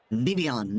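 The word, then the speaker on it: Vivillon: Vivian, it's a like a French pronunciation.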